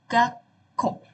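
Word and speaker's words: がっこう: Nah, untuk sekolah sendiri itu dalam bahasa Jepangnya gako. Gako ini itu perhatikan ya ada su kecil dan u juga di akhir jadi kayak gak ko. Gak ko. K-nya dua o-nya panjang.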